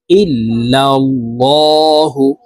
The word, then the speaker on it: ইল্লাল্লাহু: এখানে এই যে এই লামকে লা বলা যাবে না, কারণ আল্লাহ শব্দের আগের হরফে জবর অথবা পেশ হইলে এই লামকে ল অর্থাৎ মোটা করিয়া পড়িতে হয়। তো এখানে দেখুন, এই যে এইভাবে পড়ব, ইল্লাল্লাহু, লহু, লা বলা যাবে না, ইল্লাল্লাহু।